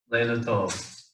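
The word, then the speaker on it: לילה טוב: It's kind of like a Lila Tov, but good night. It sounds more like Lila Tov when they say it, but it's Leila Tov.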